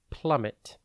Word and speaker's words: plummet: time today's word is plummet it is pronounced plit and spelled p l u m m e T think Plum like the fruit and then met remember the m in the middle plummet means to drop